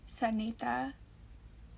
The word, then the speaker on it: Sunita: Sunita is the correct way to say it, but I've been going by Sunita since school started.